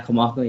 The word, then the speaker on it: Kamaka: Did I pronounce that right? Kamaka? Yeah, Kamaka, yeah.